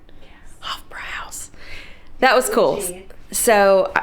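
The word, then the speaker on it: Hofbräuhaus: hofra house did I say it right yes hofra house that was cool so not a Beer Drinker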